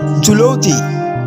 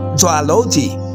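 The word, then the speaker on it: zoology: জুলজি জীববিদ্যা is wrong pronounce, জুওলজি is right.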